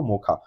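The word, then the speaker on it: Mocha: एक साइकिल आया है साइक्लोन मौका के नाम से एम ओ सी हा से लिखने हैं इसको पर प्रोनाउंस किया जाता है इसको मौका तो मौका जो साइक्लोन आया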